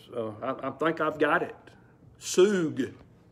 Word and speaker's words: sug: Sug. S-U-G is its spelling, and S-O-O-G is its pronunciation.